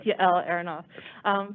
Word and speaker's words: Yael Aronoff: I think it's Yael Aronoff. Hi, that's a good attempt. I know it's an unusual name. It's Yael Aronoff.